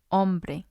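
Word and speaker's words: hombre: with a few exceptions the silent letter in Spanish is the letter H for example ombre om Bo the H doesn't make a sound it's just the vowel sound there are situations where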